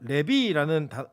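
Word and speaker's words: לֵוִי: 이 레위라는 이름이 히브리어로는 레비라는 발음인데 달라붙다, 연합된 이런 뜻이에요.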